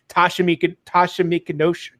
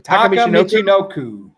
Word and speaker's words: Taka Michinoku: And I'll even go back to the light heavyweight championship in the 90s when Tasha Michinoku, oh my God, I can never say his name. Taka Michinoku.